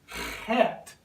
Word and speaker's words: Chet: It's pronounced chet, quite different than anything we have in English. It's a very lower throat guttural sound, pronounced het.